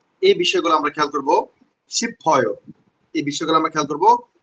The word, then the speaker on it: 싶어요: খেয়াল করছেন আপনার 싶어요 ডাইরেক্ট বয় ফর মতো হবে না, হালকা গুন্না খাবে, মানে 싶어요।